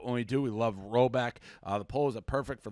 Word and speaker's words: Rhoback: So Roback Activewear, I can't go anywhere without seeing Roback.